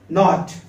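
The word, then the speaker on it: knot: के, तो के इज साइलेंट, तो हम क्या पढ़ेंगे? नॉट।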